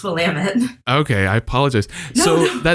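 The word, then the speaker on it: Willamette: University which is in Salem Oregon so it's Willam it damn it okay I mispronounced something in the last show too I'm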